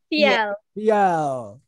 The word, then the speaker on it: Fiel: Oh, Fiel. Is that how you pronounce it? Fiel? Fiel.